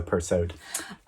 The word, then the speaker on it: Persaud: And yes, you are supposed to pronounce the D in her surname, so Persaud.